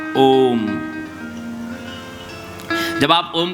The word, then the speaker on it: ओम: ओम नहीं कहते हैं ओम अकार उकार मकार ओम जब आप ओम का